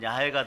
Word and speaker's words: 야훼: 자, 하나님의 본명 중에 대표적 본명이 야훼예요. 근데 여기는 여호와라 되어 있죠. 그런데 발음은 야훼가 더 가까워요. 동일한 단어예요.